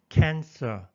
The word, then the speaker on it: cancer: cancer, 앞에 액센트가 있습니다.